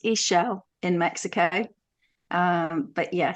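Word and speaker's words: Ixchel: a Mexican goddess Medicine Woman so it's actually pronounced iSell in Mexico um but yeah so she was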